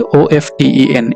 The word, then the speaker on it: often: अब यहाँ पर देखिए OFTEN, इसके दो प्रोनाउंसिएशंस हैं. आप often भी कह सकते हैं, आप often भी कह सकते हैं. आप पर है, दोनों प्रोनाउंसिएशंस सही हैं.